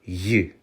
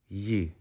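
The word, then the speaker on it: ї: dots on top this is the Ukrainian letter Yi Yi next up we have what looks like a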